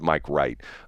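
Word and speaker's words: Mike Reit: And it's not w it's not w i g ht. It's r e i t or something like that. Uh he pronounces it Mike Wright.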